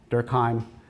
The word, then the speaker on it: Durkheim: talking to about uh Emil durkheim uh to use my basically American pronunciation of his name um he took this